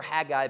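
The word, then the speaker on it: Haggai: I always remember Hag guy because he's the guy that I want to say, "Hey guy."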